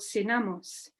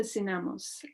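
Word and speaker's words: SINAMOS: created in 1971 called synamos this stands for national system of support for social mobilization but the acronym also sounds like the words sin amos or without masters sonamos operated at local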